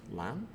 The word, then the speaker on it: LAN: will check the answers together so LAN is pronounced LAN and stands for local area network in a